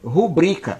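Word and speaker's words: rubrica: que a palavra pública ela é o barbarismo porque na verdade ela é a palavra correta aprovam se é rubrika oi tadeu disso é rubrika uma pessoas falam pública porque não conhece a pronúncia então não conhecendo usam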